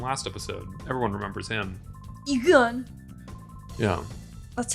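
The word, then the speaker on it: Eagun: Egon.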